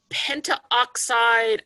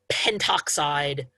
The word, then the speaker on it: pentoxide: second one pentoxide um most textbooks stick with the convention of drop a vowel to make it in in part to make it a little bit easier to pronounce okay penta oxide i i wouldn't necessarily call it wrong as not the usual way usually they drop the a so that pentoxide just three syllables um is a little bit smoother to pronounce um that is not